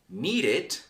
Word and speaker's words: needed: When you have verbs that end in T or end in D, you will pronounce it completely. You will pronounce a complete syllable. Need is the verb, for example, need, and then needed. Needed. Did. No need that. No, don't make it a Spanish. English. Needed. And wait, other syllable. Waited.